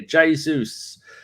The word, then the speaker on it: Jesus: Gold Nick 27 familiar Jesus who I now spell j-a-y-s-u-s because it's the only way I can make sure I say his name properly great build up play